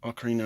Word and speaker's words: Ocarina: the legends of the Ocarina of Time 3d ocarina is the correct way to say it this is one of